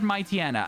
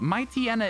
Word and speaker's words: Mightyena: We've always said Mightyena. Hands up if you've ever pronounced Mightyena any other way. Should we be saying Pooch Hyena and Might Hyena? There's no way we should, but, like, should we? Because they are based on hyenas.